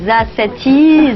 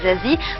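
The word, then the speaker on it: Za7ie: Alors Zazie, ce 7e album, alors déjà comment ça se prononce? Est-ce que c'est Zazati, Zazie 7? Il y a plusieurs versions. Ça se prononce pas, ça s'écoute, j'ai envie de dire, mais c'est Zazie.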